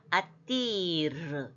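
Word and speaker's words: אַדִּיר: 이 다음에 달렛에 점이 있기 때문에 이게 달렛이 두 개라니까 발음을 아띠르 이렇게 하면 좋겠습니다. 아띠르 이렇게요.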